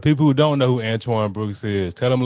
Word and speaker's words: Antoine: It ain't, it's Dr. Antoine Brooks.